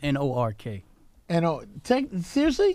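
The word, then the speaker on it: Newark: you say like that though this is it's pronounced n o RK I know take them seriously that's what is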